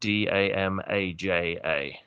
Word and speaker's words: Damaja: And the Damager is spelled Damaja.